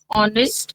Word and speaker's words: honest: Because all in all these words the H is silent.